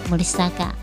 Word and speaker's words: 摩里沙卡: 为森坂，战后保留森坂的日文发音摩里萨嘎，以汉字写作摩里沙卡。